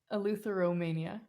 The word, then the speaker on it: eleutheromania: that's like tell me tell me how do you say it eleutheromania a lutheran mania okay luther mania yes how did you come